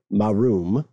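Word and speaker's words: Maaroom: actually part of this revolution uh this town marum Australian friends uh forgive my mispronunciation that's m-a-a-r-o-o-m is just south of a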